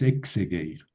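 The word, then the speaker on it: ἐξεγείρω: Bueno, eh, con la la preposición ec cuando sigue una vocal siempre se cambia en sí. Es lo que acabamos de decir acá, ¿verdad? Entonces, en vez de egiro es exegueiro.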